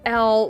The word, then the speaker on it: L: It's pronounced L, like the letter L.